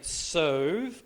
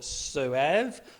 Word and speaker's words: Soave: This is, well, depending on where you were educated, it's either a Soave or Soave or Soave, depending on who you talk to.